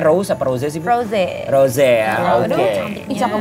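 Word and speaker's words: Rosé: Bacanya Rose apa Rose sih? Rose.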